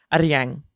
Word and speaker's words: Aryang: it's Aryang. You got to roll the R.